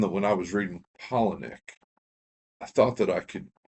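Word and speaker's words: Palahniuk: and and I've said Palaniac. I've said P I think I I would have said Pollen without looking. I think it's actually Pollenic. Said it rhymes with Colony.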